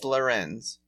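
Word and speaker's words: Lérins: Vincent of Lerins does rhyme with Vincent of Benz. Your cousin and uncle. But no, it's Lerins.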